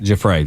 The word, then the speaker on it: Giuffre: But testimony and Virginia, and I hope I don't mispronounce her last name, Giuffre, did I say it right? Giuffre. Giuffre, there we go.